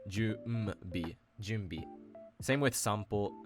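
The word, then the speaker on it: 準備: So first, when you have an n sound that precedes a consonant that uses your lips like m, b, or p, words like junbi or sanpo, the n doesn't actually get pronounced as its usual kana reading. Instead, it actually assimilates into an m-like sound. Junbi is not ju n bi. It's ju m bi.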